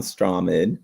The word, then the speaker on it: Strowman: I'm pretty sure we both also predicted Braun Strowman to win this. Strawman? I don't know how to pronounce his last name.